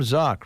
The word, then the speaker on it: Zock: Tim Zock rhymes with sock.